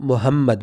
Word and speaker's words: محمد: وہ تلفظ نہیں رہتی۔ تلفظ عربی کی یہ ہے کہ ہا کو اپنے گلے میں تھوڑا سا رگڑ کر کے پڑھنا ہے۔ تو پڑھتے وقت